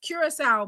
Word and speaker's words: Curaçao: Ooh, it's pronounced Curacao.